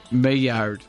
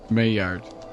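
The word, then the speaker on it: Maillard: could know Peter I know it's really hot mayard mayard you to pronounce it first I got to do the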